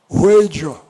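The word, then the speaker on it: Wheydja: Ela disse, Ruedia. Eu disse, como é que se escreve, minha filha?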